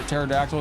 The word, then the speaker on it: pterodactyl: A because they uh they were flying under the radar because the P is silent.